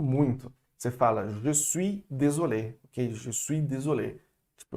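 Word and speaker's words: désolée: Désolé, ou désolé, para o feminino e para o masculino. O E final existe, mas não é pronunciado no feminino.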